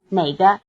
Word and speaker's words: 哪个: 这个，这个，这个， It may be helpful to remember that the answers 这个 this, 这儿 here, 那个 that, and 那儿 there are all in the falling tone, while the questions 哪个 which and 哪儿 where are both in the low tone.